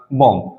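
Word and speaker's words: bomb: बाद क्या कहा मैंने जब भी कभी एम के बाद ब या t से पहले बी आएगा इन दोनों सिचुएशन में कि बी जो है वो हमारा क्या रहेगा साइलेंट रहेगा ब हमारा साइलेंट रहेगा जैसे मैंने इसको कहा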